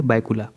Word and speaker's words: बायकुला: है ना, तो वो बायकुला नाम रहेगा रेलवे स्टेशन का, जो कि महाराष्ट्र में है। इसे कई जगह पे भायखला भी लिखा था, ध्यान रखिएगा, लेकिन स्पष्ट उच्चारण क्या है, बायकुला।